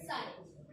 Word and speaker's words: psi: सो ये हो गया अपना डायहेड्रल एंगल, और इसका सिंबल होता है, साइन, ग्रीक लेटर, ओके, इसका सिंबल होता है साइन, SI, ऐसे इसका प्रोनाउंसिएशन। PSI होता है एक्चुअली, पर स्पेलिंग से सिर्फ साइन, ओके, हो गया।